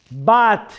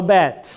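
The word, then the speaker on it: בת: Bat, no bet. Bat.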